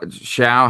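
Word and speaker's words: Shough: I mean, how many I mean, Tyler Shaw Sha, how do you say his last name?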